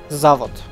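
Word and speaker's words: Zavod: but the point is I want to lay out how it should be properly pronounced and that is zot zot I just want to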